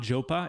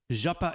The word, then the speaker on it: Japa: Oh, my name is not Jopa? It is not. I mean, it's fine. It's fine for people who pronounce it that way. That's not how I say it. So, Deplorable Lover, thank you so much for that message. Really appreciate that. Really appreciate it. Japa is Japa.